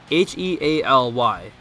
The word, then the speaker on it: Healy: I'm pretty sure, isn't it spelled like H-E-A-L? Yeah. Yeah, I'm pretty sure that's Healy. It could be like... Healy. Like Haley or something like that? First of all, it's something spelled H-E-A-L-Y. It's Healy, could be, right?